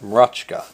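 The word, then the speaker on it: Mroczka: is a name that unless you were polish you would not know how to say m r o c z k a and I happen to know that you pronounced that RKA because I actually know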